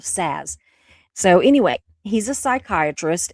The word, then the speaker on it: Szasz: looked it up, and it is spelled like jazz but with an S of Szasz.